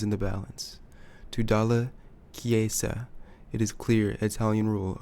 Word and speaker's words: Chiesa: Rome expected results, and that is what Dalla Chelsea. I'm gonna look up how to pronounce his name. 1 second. Chiesa is how you say his name.